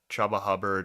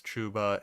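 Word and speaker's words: Chuba Hubbard: I spent $7 on chubba hubard I don't care if it's chuba his name looks like it Rhymes it should be chubba hubard his parents messed up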